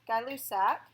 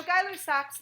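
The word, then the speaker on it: Gay-Lussac: last gas law called guy loose AK this is actually misspelled this is an a it's pronounced like guy but it's spelled like gay it's a French name so in English G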